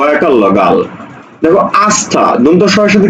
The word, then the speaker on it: আস্থা: আছে ঋকার তাহলে এই জায়গাতে তখন তালব্যসটা দন্তস উচ্চারণ হবে শ্রী গ আকার লগাল দেখো আস্থা দন্তস এর সাথে কি যুক্ত আছে থ যুক্ত